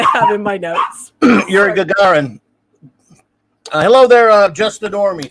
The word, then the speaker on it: Gagarin: Yuri Gagarin.